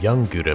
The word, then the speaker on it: Gouda: It's pronounced Gouda, but yeah, Gouda.